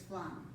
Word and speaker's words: flan: We say flan because in Spanish it's flan. It's, so it's like if you put a W in there somewhere like F-L-A-W, there's no W, it's just F-L-A. So it's flan.